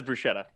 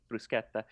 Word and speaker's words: bruschetta: But bruschetta, when people say bruschetta, everybody says bruschetta. Yeah, I do. But yeah, no, because that's how it would be pronounced in English, or in German or anything that sch. But in Italian, it's bruschetta.